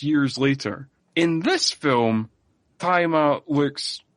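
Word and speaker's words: Tzi Ma: Who is played by, I think his name is pronounced Taima. It's spelled T-Z-I, and then his surname is just M-A. But, so I think it's Taima. Is how you pronounce that.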